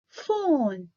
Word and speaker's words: phone: PH, we pronounce it F. Phone.